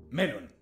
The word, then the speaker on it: melón: ¡Con acento en la E! Melón.